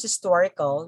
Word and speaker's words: historical: here so historic historic if it becomes historical you say historical historical historical okay the stressful still in tor historical or historic then